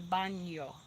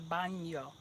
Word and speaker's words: baño: El baño. El baño. I try to make sure I give that in that little nya, nya. Baño. El baño.